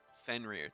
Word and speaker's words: Fenrir: Fenrir. That is how you pronounce it.